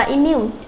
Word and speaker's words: immune: Câu số 32, đáp án A chúng ta đọc là immune. Immune thì cho âm sẽ rơi vào âm thứ 2, là vì cái âm I là âm ít chứa trung âm.